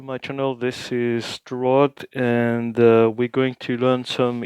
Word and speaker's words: ha: So the short words, o and a, the h is silent, are two forms of the verb to have in Italian.